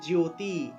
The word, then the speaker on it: জ্যোতি: এই যে জফলা আছে এখানে জফলা থাকলে ইয় উচ্চারণ হয় ইয়ো তাইলে জ্যোতি জ্যোতি বর্গীয় জ্য তারপরে ইয় উচ্চারণটা আসবে তাহলে